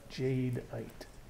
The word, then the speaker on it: jadeite: earth that we call Jade white and I'll spell that for you jad e ite Jade ight and there's another kind of jade called nephrite